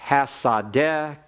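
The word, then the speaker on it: השדה: When I listen for your pronunciation, I noticed that some of you are pronouncing the seen in hasadeh as a sheen.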